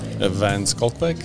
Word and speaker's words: van Schalkwyk: name nope nope nope nope how do you pronounce your last name evance skul yep there it is there it is now